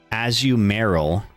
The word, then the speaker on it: Azumarill: So I would have pronounced it Azumarill, because I feel like the basic is Marill.